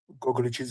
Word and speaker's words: Gogliachidze: Gogliachidze is the proper way of pronouncing it, and you're doing quite well actually.